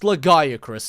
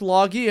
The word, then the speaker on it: Lagiacrus: It's pronounced Lagiacrus. In this channel, under my roof, you will obey my rules, young man. I'll accept Lagi, and I'll even give a pass to Lagiacrus, even though that sounds like an STI.